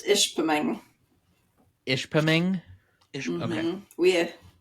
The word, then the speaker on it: Ishpeming: Michigan I hope I got that right it's Ishpeming ish ping ish we have we have clients